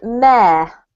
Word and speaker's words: mayor: So it's pronounced mare. Yeah. And if you know the word for a female horse, that's also mare. Ma. Yeah, it's the exact same pronunciation, but the spelling is a bit off-putting.